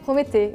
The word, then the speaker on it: Prométhée: I think it's because like we don't pronounce the S at most of the word at the end. And after if we just like Prometeux, like it's so weird, so we just like, okay, Prométhée, it's better.